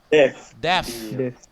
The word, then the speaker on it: deaf: Yang ini bacanya apa? Hati-hati salah. Deaf.